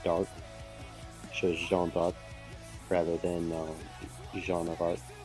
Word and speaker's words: Jeanne d'Arc: So technically her name is Jeanne of Arc. But in French it's Jeanne d'Arc because it's Jeanne d'Arc, Yeah. but de means of. But because of the way French syntax works, it's shortened to the apostrophe arc, which is Yeah.